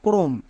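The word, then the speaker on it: chrome: আর থাকে যেমন দেখো ক্রম এই ওয়ার্ডটি সবার খুবই পরিচিত ওয়ার্ড এখানে দেখো সি এইচ আছে সি এইচ এর জন্য চো কিন্তু হচ্ছে না কো হচ্ছে এক্ষেত্রে কি নিয়ম সি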